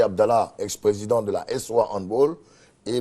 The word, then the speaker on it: handball: Oui, handball. Il faut dire handball. Ouais. C'est une prononciation. C'est plutôt allemand. Allemand. Non anglophone. Non. Voilà, c'est pas anglais. C'est pas anglais. Donc faut plutôt dire handball.